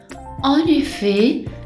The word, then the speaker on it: en effet: En effet, le T à la fin ne se prononce pas.